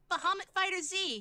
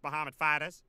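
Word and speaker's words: Bahamut FighterZ: Bahamut Fighter Z. It's actually pronounced Bahamut Fighters, and you are forgiven.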